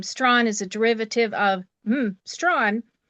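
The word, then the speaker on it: Strachan: Um but my question today um my last name Stron is a derivative of Stron but uh from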